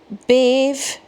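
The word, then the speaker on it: Badb: So, we've got Bave, which I may be pronouncing it wrong because it's Irish spelling. B A DB, which is the old Irish spelling for crow or battle crow.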